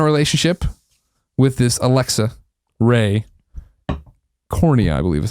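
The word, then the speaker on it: Corriea: Korea c o r r i e a Korea okay that is not even that's no I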